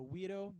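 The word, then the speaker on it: güiro: to get the the we doe sound the guiro you know GUI ro we doe don't be afraid to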